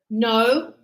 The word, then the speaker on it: know: And here, know, knew, known. And look at this, same pronunciation as new, brand new. So the K is silent.